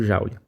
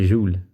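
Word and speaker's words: joule: utilizar essa grandeza aqui o júlio na verdade a pronúncia correta júlia bom vamos olhar para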